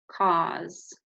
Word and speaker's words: cause: So there's our k, ah, and then s. It actually has a silent E at the end. So this word is cause, okay?